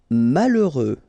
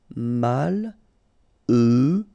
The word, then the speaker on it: malheureux: Malheureux. H doesn't exist, okay, so you get mal, heureux. Final X not pronounced. Malheureux.